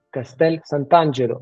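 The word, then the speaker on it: Castel Sant'Angelo: del castillo de sanangel Castel santangelo en italiano se dice exactamente eh c Sant ángelo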